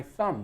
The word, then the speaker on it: thumb: this is my thumb this is my thumb with a be a silent B at the end this is my thumb